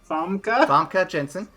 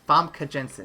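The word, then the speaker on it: Famke Janssen: Famke Jensen. Yep. I don't know why I keep mispronouncing it. Famke Jensen. It's exactly how it's spelled, but I just don't see it.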